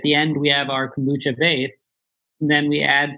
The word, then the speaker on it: kombucha: Tell me, there's a lot of kombucha on the market right now.